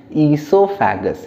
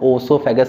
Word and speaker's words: oesophagus: Food pipe, जैसे अपन बोलते हैं ईसोफेगस, है ना, ओसोफेगस कई लोग बोलते हैं, कई लोग ईसोफेगस बोलते हैं। सो now next topic is the food pipe, है ना, फूड पाइप। ओ इसमें साइलेंट होता है वैसे, इसका नाम है ईसोफेगस या फूड पाइप।